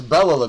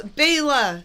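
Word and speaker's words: Bela: lot of people say Bella it's Baya that's the closest we could ever pronounce his name oh okay but yes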